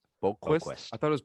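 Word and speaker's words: Boqvist: Yeah, but you don't pronounce the V. It's just like Lundqvist.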